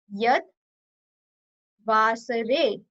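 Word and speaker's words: यद्वासरे: Yad, Vasare, Vasare. Vasare means day. Yad Vasare, we pronounce it together.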